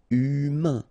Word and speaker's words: humain: So U, then A-I-N together. Un. Humain.